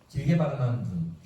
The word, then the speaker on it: 눈: 길게 발음하는 눈. 하나는 요 눈이고 하나는 하늘에서 내리는 눈입니다. 달라요.